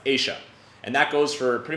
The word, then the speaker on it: ella: Here in Buenos Aires, it's pronounced Asia.